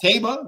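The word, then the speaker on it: Taiba: Taba, we've learned that's the official pronunciation, and Jack Christopher.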